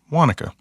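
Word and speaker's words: Guánica: She lived up in the mountain, and then she lived in a little town called Wanaka, Guanica, but it's pronounced Wanaka.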